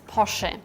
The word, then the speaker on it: Porsche: In German, it's Porsche. In German, it's very important that the E at the end is spoken.